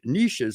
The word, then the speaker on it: niches: is I've picked Niche niches or niches however you want to pronounce it that maybe weren't the